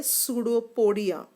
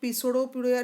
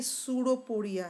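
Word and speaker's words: pseudopodia: पी से start होता है इसलिए इसको पिसोडोपोडिया नहीं कहते, ये सूडोपोडिया है, ठीक है। पी साइलेंट होता है यहाँ पर, पी को साइलेंट कहा जाता है, इसे कहा जाता है सूडोपोडिया।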